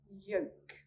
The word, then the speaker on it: yolk: We do not sound out the L when it comes after an A, O, or U. Here's some examples. Would, would. Should, should. Calf, calf. Half, half. Salmon, salmon. Talk, talk. Yolk, yolk.